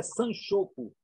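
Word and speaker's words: 三色: Que a pronúncia na modernidade é sanchoco.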